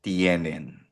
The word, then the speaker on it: tiene: Tiene nosotros nosotras tenemos bosotros bosotras teneis eos e ustedes tienen. Again pronunciation niyan ay tiene. Hindi siya ti mali yun ha. Tiene tienen 'yung tie e.